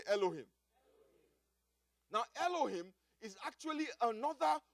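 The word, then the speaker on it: אֱלֹהִים: Now that word translated angel in Psalm 8 verse 5 is a Hebrew word pronounced Elohim. Everybody say Elohim.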